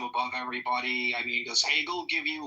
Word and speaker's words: Hegel: Greg Hegel runs with bagel. Greg, you there buddy? Also rhymes with bagels.